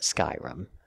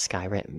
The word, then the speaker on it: Skyrim: the world matters but Skyrim and yes I pronounce it Skyrim and not Sky written because it's Skyrim it's not even debated I mean look at